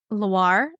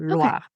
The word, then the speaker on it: Loire: It kind of like gets stuck in your throat because it's at the end. So it's not like super pronounced, I would say, but it is certainly there.